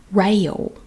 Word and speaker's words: rail: a i l rail rail railroad railroad i gotta mark these off as i go building rail rail you turn it into a two silver board rail and again that sounds like a y rail railroad railroad and